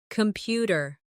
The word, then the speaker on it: computer: Computer. The stress is on the second syllable.